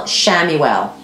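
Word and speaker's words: Chamuel: um and that is archangel shammy well but if you're going to look him up it's spelled with a c samuel um he who sees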